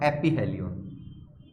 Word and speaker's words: aphelion: तो यहां पर इसको तो हम बोलते हैं पेरीहेलियन, और इसको बोलते हैं हम एपीहेलियन। स्पेलिंग आप देख लेना, उसमें मुझे इतना ध्यान नहीं है, ठीक है।